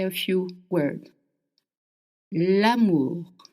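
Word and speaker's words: l'amour: Lamour. Lamour means love. Actually, it means the love. Am is love. It's the sound. A is I pitch. A. Okay. Again, we don't have short and long. Only short sounds in French.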